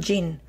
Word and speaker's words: gin: decide inventar el coltán jing jing de engine de motor en inglés no de gin ginebra aunque se escribe igual el cotton gym era